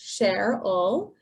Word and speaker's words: Cheryl: saying hi my name's cheryl pronounced share all and i use the